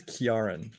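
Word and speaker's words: Ciarán: Is it Karen Hines or Ciaran Hines? I've heard it pronounced so many ways. I think it's Kiaran.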